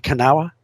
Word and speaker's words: Kanawha: 35 is on the other river, the Kanawha, right? Am I pronouncing that right? The Kanawha?